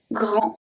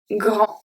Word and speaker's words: grand: So when you have a G at the beginning, follow either by R or by L, it's going to stay as a hard G.